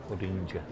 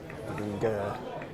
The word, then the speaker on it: Budinger: Running in is Sol Budinger. Is it with a hard G or a soft G? Yeah, as in ginger. Yeah, okay. Ginger. Budinger. Budinger.